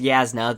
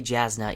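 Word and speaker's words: Jasnah: Yes, it is pronounced Yasna, though I still say Jasna in my head.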